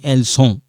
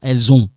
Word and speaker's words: elles ont: I'm not saying elles sont. No, elles ont. Okay? So this one, like I said, this one sound like zone.